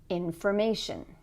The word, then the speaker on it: information: For example, information. Here we have the suffix shun. Where's the stress? On the syllable before.